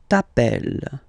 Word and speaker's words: t'appelles: Okay, remember, final s not pronounced. Tu t'appelles.